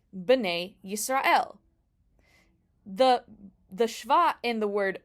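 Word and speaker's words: ישראל: In the word Yisrael, the sin has a shva nach underneath. That is a no vowel shva. And it's just Yisrael.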